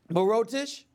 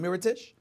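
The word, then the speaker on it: Mirotić: Brook Lopez whether it's Moreau dish here dish rather I'm sorry I'm know why he mispronounced his name Mira Tisch whether it was earth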